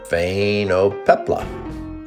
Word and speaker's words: Phainopepla: This bird is called a Phainopepla, pronounced Phainopepla.